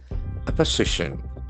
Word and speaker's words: opposition: Opposition opio as we know endings must be announced. Opposition opposition the accent fall force from the third syllable opposition and letter s has got z sound opposition.